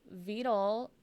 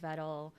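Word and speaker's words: Vedal: The Beetle, if anyone doesn't know, Beetle is the I think that's how Nora Sama pronounces it. I think his name is actually pronounced Vettel, if I'm right.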